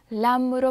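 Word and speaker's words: lăm: 근데 10 단위 뒤에 5가 오면 람으로 발음해요.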